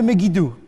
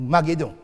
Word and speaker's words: Megiddo: Sur votre schéma, il y aura un grand deuil à Jérusalem, mais aussi dans la vallée de Megiddo, ou Maguédon. Maguédon, c'est la prononciation, la translittération grecque.